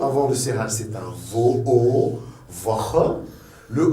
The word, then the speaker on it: Woche: Woche.